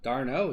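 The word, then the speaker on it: d'Arnaud: Darno is how it's pronounced.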